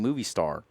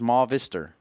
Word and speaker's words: Movistar: F Silva has said please stop saying movie star it's ma vistor and you know what